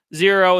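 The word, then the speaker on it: Xero: Zero is a brand. XRO is how you spell it.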